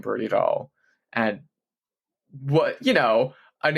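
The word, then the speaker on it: Dalle: Interviewers always call her Brody Dale. And it's like no, it's Doll. Beatatric doll. get it right.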